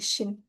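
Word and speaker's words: 清: C-nya itu sin-nya itu maksudnya Ching ya, dinasti Cing yang saat itu. Jadi itu kalau di Mandarin bacanya cing. Kalau Jepang jadi shin.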